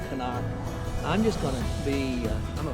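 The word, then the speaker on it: CNOC: I've heard people call it a C-knock. I've heard people call it a Canuck. I think when I went on their website, they pronounced it Canuck.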